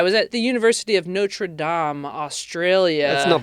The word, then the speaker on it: Notre Dame: I was at the University of Notre Dame Australia last night. We say it wrong, by the way, in the United States. So, I was at the University of Notre Dame Australia.